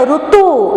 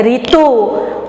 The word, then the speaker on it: ऋतु: जैसे अगर हम उड़िया में कहेंगे ऋषि, लेकिन हिंदी में ऋषि, उड़िया में हम कहते हैं ऋतु, लेकिन हिंदी में ऋतु।